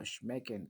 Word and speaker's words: schmecken: That's how I remember schmecken. That's the sh sound, like a something is tasting good or bad.